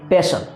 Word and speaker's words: pestle: इसकी अंग्रेजी होती है पेस्टल, PESTLE। यहाँ पर टी जो है दोस्तों साइलेंट है, इसीलिए यहाँ पर इसको पेस्टल कहा जाता है।